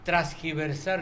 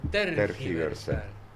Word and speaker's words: tergiversar: Por ejemplo, viene alguien y te dice, pero a vos te gusta transgiversar lo que yo digo. No, es tergiversar. ¿Y qué dije?